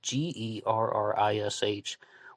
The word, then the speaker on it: Gerrish: It might be pronounced Garish, but it's Gerrish. When I look at that, I think Garish.